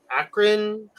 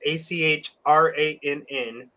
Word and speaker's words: Achrann: Akron. I don't know how to pronounce it, but we're on at Akron. It's Achrann.